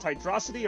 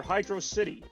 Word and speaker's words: Hydrocity: Is it pronounced Hydrocity or Hydro City? My friend Jeff and I had a long argument about this, as has every Sonic fan in the history of time. I think it's Hydrocity.